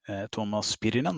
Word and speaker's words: Tuomas Pirinen: So today we actually have a unique guest, one of the creators of Mordheim, Tuomas Pirinen. I'm sorry, did I pronounce that right?